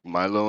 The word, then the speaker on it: Milo: Like Milo and Otis.